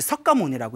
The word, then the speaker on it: 석가모니: 그래서 이 샤카무니가 이제 한문 문화권 중국으로 넘어오면서 석가모니라고 이제 필기가 되었고 우리는 발음하기를 이제 똑같이 석가모니라고 이제 발음을 하고 있습니다.